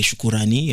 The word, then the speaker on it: Choukourani: D'ailleurs, Choukrani c'est une mauvaise prononciation. La meilleure c'est Choukourani.